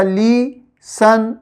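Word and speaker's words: listen: एस टी ई एन में टी जो है वो साइलेंट होता है और इसकी साउंड बनती है सन। ठीक है? तो यह हो जाएगा ली सन लिसन।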